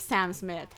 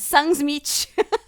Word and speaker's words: Sam Smith: you tell the story how do brazilians pronounce sam smith okay but is this like brazilians in general or is this justin selmo because i'm telling my husband he said sung's meech oh this is very